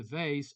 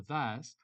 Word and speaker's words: vase: For instance, he carefully put the vase or the vase back on the shelf. Okay, you can pronounce vase or vase.